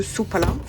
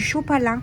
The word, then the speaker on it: Sopalin: un gros rouleau de sopalin ou des suuitou ça dépend votre région comment vous prononcez ça mais nous chez dans le Nord chez le Nord chez les chtill on appelle ça du du chopalin voilà pas là les